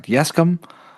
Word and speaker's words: Yescombe: Yesum. How would you like to pronounce it?